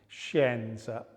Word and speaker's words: scienza: Scintilla. Scintilla. Scienza. Anything that has that sh sound in it.